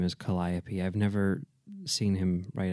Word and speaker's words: Calliope: drama production podcast ok how do you say this Kelly Kelly okay Kelly up writing Oh No Calliope is that cuz that's how I appeal i opee yeah I'm pretty sure that's Calliope writing coach podcast ng